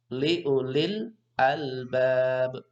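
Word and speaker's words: لأولي الألباب: Liulil albab. Jangan sampai membacanya itu ada pantulan. Ada yang baca liulil albab. Seperti ini baca seperti itu yang termasuk bacaan yang kurang tepat. Harus jelas alif lamnya.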